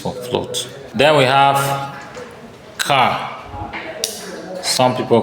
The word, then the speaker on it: char: Then we have car. Some people call it pronounce it char.